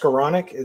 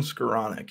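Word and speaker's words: Skowronek: yeah what about uh pronounced scleronic that's not how you pronounce him Ben scaronic yep yeah all of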